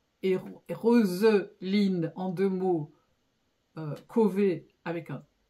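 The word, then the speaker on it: Chauvez: famille moi j'écris chaué je sais que c'est prononcé c'est dans le Nord et que c'est prononcé cové donc elle en fait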